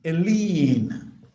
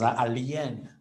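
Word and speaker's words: lien: able to really define a leen you get people pronouncing it as alen a leen alen can somebody in this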